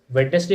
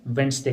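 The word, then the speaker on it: Wednesday: ठीक है, और इट्स वेडनेसडे नहीं होता है, क्या इसको कहते हैं हम, वेंसडे कहते हैं।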